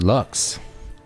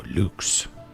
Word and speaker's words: Lux: Song is called Lux or Luke if you're pronouncing it with proper Latin.